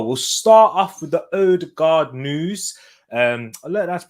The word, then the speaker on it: Ødegaard: now let's go we'll start off with the ode guard news um i let that pronounce his name properly by the way it's actually in norwegian it's pronounced erdogan the double a um pronounces with two old